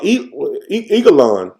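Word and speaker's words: Eglon: a message for uh Eagle on I pronounce it Like an Eagle on and um so ehood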